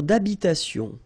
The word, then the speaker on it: d'habitation: Une tour d'habitation. Remember, H, H doesn't exist in French, well, in most of the cases. So it does mean that you don't pronounce it.